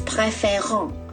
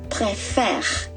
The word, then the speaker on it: préfère: Please remember the verb ent, the verb préférer with the ending ent. Ent is silent. Do not pronounce as préférant. You say préfère. You stop at R.